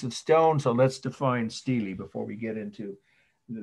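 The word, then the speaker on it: stela: s-t-e-l first word steely i know it looks like the name stella a woman's name but it's pronounced steely s-t-e-l-a steely of hammer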